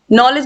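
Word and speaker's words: knowledge: आई जी एच टी नॉलेज मतलब ज्ञान इन सभी में जो के है ये साइलेंट है क्वेश्चन नंबर 68 है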